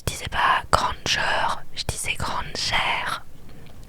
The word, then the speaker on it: Granger: Je disais pas Granger, je disais Granger. Parce que mon nom de famille se termine par ER et ça se prononce R.